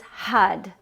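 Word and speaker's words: Har: HUD HUD HUD HUD it's spelled h-a-r but with that R you actually touch the the roof of the mouth with your tongue so it almost sounds like a h a d or an h-u-d Hut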